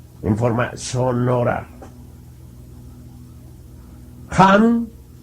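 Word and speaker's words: Ham: en forma sólo ahora jan escribe con las letras h y m sanz se escribe con las letras s a h la h tienen suena siempre como j la inhalación se hace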